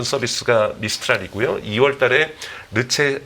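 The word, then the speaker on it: Le Chat: 미스트랄이 그요 2월 달에 르체 르체 하는 최신 이제 프랑스 어로는 체라고 읽으니까 체라는 서비스를 이제 오픈을 해서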